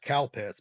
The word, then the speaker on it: Calpis: They had a sports drink called Sweat, and they had another drink called, it's pronounced Calpis, but Calpis.